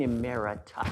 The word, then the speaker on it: emerita: Dean Emerita.